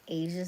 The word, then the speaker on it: Aysia: My name is Asia. I spell it a Y SI A.